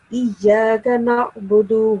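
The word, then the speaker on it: إِيَّاكَ نَعْبُدُ: It's supposed to be pronounced Iyyaka na'budu wa iyyaka nasta'in. إياك نعبد وإياك نستعين. Okay, that was very good. Just make sure that you do not prolong the sound of alif in Iyyaka. It's not supposed to be pronounced Iyyaka. You're not supposed to prolong the alif sound too much.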